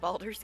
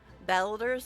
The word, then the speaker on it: Baldur's: But speaking of strange pronunciations of Baldur's Gate, because it did originally sound like he said Baldur's Gate, but I believe it's, what, Australian people that pronounce it Belders, and I'm like, it's a little strange, but okay.